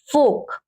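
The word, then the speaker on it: folk: जैसे फोक, अब देखिए के से पहले क्या है, एल है, तो एल क्या है, साइलेंट है।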